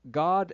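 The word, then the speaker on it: Gad: Of course, both names incorporate G-A-D, which we should all know by now is pronounced God. So we have God El-Glas and God Rael.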